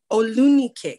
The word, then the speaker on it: Olunike: Olunike, I think that's how you pronounce her name. Olunike. Olunike, thank you.